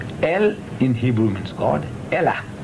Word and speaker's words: Elah: Elah in Hebrew means God. Spell it in E-L-A-H, say E-L-A-H.